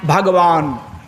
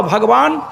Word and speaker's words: भगवान: भ ग व जोड़ अ बराबर ब नौ भगवान सही उच्चारण यही है। भ ग ब में अगर ब न भगवान ये सही उच्चारण नहीं है।